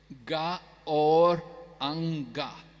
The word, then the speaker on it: Gauranga: are chanting 4-syllable mantra, Gauranga. But I thought this is only 3 syllables. Can you explain to us? Well, in the Chaitanya Charitamrita, it's written as 4 syllables. Ga or anga.